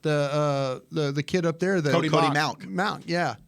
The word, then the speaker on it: Mauch: kid up there, Cody Mauch. Mauch, yeah. I think it's Malk. I had a North Dakota State Bison fan reach out to me and said I was pronouncing it wrong.